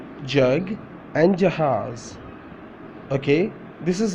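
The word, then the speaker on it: جگ: Now I'm going to pronounce in Urdu with alphabets. Jim, Gaf. Jim, Gaf. Jim, Gaf. Jug. Jug, jug, Jim Gaf, jug, Jim Gaf, jug. So this word is jug, jug. Okay.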